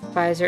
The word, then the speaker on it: Pfizer: a invention pfizer is the last name i'm assuming the german origin because that thing where they have a silent p in front of a nap that